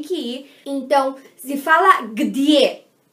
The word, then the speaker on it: где: Então se fala где. E se escreve assim.